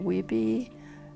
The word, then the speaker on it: Weippe: How do you pronounce Weippe, Idaho? Weippe, W-E-I-P-P.